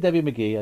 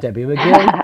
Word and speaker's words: Debbie McGill: Although you did do her name wrong. Debbie McGill. You said Debbie McGee. I didn't say what I said. Debbie McGill.